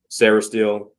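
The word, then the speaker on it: Sainristil: out of Michigan um Mike how do you pronounce his name s sarahel so Mike sarahel from Michigan he's like a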